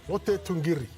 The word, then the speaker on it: Lote Tuqiri: Lote Tuqiri. You got to roll the R.